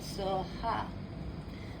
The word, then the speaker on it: Soha: TARE, Too-tah-ray, TURE, So-hah. That is her mantra. And I'm going to spell it out for you guys, okay?